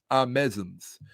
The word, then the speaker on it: Ahmoseisms: These are Ahmoseisms. That's the correct pronunciation. Ahmoseisms.